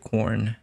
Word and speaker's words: Corne: I think it sounds like corn.